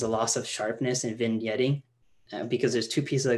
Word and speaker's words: vignetting: it's this entire time i thought it was pronounced vinaigrette vinaigrette no vignetting but you heard that before